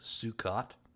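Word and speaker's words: Sukkot: I'm getting it wrong I believe it's pronounced sukot is the official name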